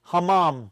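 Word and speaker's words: hammam: Uh, Morocco has something called ham. I'm saying it wrong. Hamom. Sorry.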